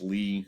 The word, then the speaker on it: Lie: And then we'll talk about Lie algebras. Note, this is pronounced Lie, not lie.